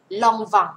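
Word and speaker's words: Lanvin: ตัว นี้ นะ คะ ออก เสียง long วัง ลอง วัง นะ คะ ตัว นี้ เสียง ออง ออก เสียง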